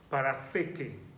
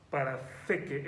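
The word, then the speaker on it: παραθήκη: griego, es la palabra parateke. Si se lo deletreo, podría escribirlo en español P-A-R-A-T-H-E-K-E, parateke, parateke. Ese TH se pronuncia como la lengua entre los dientes, y es la palabra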